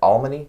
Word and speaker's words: Almany: Am I pronouncing your name correct? Alman.